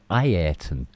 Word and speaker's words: Ayrton: And he kept changing Ayrton Senna's name, kept pronouncing it differently from one season to the next. It was Ayrton, then it was Ayrton, then it was Ayrton. Well, Ayrton is the actual pronunciation.